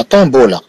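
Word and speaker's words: tombeau: إذن مكان حرف الميم نقرأ حرف النون.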